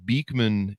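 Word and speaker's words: Beekman 1802: Anyway, uh, so now you guys have created I'm looking at your website, Beakman 1802. Am I pronouncing that right?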